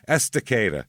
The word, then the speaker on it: Estacada: I am not going to fuck this up because I looked it up and made sure I knew the pronunciation. It's not Estacada? Estacada.